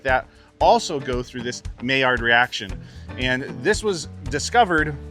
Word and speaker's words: Maillard: It's spelled M-A-I-L-L-A-R-D, but you pronounce it Maillard, like M-A-Y-A-R-D.